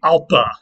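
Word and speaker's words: ἄλφα: Aleph became alpa, and yes, originally in Greek, that ph would have been pronounced p and not f. The f actually developed much later.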